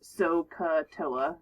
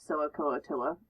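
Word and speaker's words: SOH CAH TOA: which is so toa now this only works if you say it correctly uh it's soca toa not so a coatilla is what i hear a lot of times this is sohcahtoa why is that helpful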